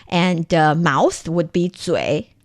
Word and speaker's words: 嘴: Okay, so 嘴, that's the third tone. Yeah. And 巴 there is the light tone. So 嘴巴.